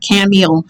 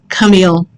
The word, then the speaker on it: Camille: It is not Camille. It is Camille. It's not difficult. It's not complicated. It's simply Camille.